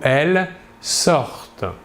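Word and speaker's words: ils sortent: Et enfin, à la troisième personne du pluriel, il ou elle sortent. Comme toujours, ici, nous voyons que la terminaison ENT à la fin du verbe, à la troisième personne du pluriel, ne se prononce pas.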